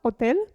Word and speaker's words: hotel: h ad esempio hotel la h in italiano non si pronuncia vedremo in seguito h hotel ho detto è i